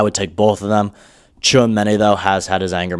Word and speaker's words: Tchouaméni: Alonso is a big admirer of, I say, Tchouaméni. That's how I pronounce it.